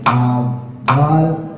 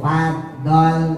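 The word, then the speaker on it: فضل: Kemarin sudah saya sampaiin jangan merenges nanti jadi dal. Jangan juga bocor ya. Yang jadi dal tuh fad dol. Ahah. Itu dal. Atau bocor. F dol. Itu bocor namanya. Jangan bocor doya.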